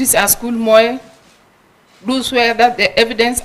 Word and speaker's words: Moe: betric AOL Moy yes Mr Speaker have I pronounced your name correctly yeah it's called be as Moy MO is correct welcome once again you will